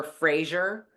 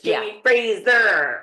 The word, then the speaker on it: Fraser: Because in that, by that time, maybe the Frasers in the United States, in America, were Frazier. Maybe he represents all of us Americans that say it wrong. We did for a very long time. Jamie Frazier for a very long time. Oh, we got schooled on that too. It's Jamie Fraser.